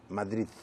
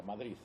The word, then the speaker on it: Madrid: Eh eh pronuncian los madrileños Madrid con una Z. Madrid. Muchos pronuncian así. En Cataluña dicen Madrid con una T.